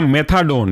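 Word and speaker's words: methadone: Spelling मेपेरिडीन की है MEPERIDINE, मेपेरिडीन। दूसरा है आपका मेथाडोन, यह भी काफी बार पूछा गया है।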